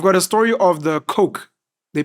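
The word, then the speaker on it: Koch: to collapse you've got a story of the coke they pronounced Coke in America the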